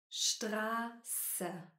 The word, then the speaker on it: Straße: Das SZ ist ein besonderer Buchstabe. SZ wird wie ein Doppel-S gesprochen. S kommt nach langen Vokalen. Straße, Straße. Spaß, Spaß.